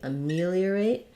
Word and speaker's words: ameliorate: for me or eight ameliorate second syllable stress here so letter a is gonna sound like uh it's going to be vowel schwa then our stress is on the me syllable ameliorate letter e is